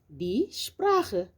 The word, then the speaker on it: Sprache: Par exemple, lorsque un S est devant un T ou devant un P, il se prononce comme un Ch, comme par exemple ici die Stadt, die Sprache.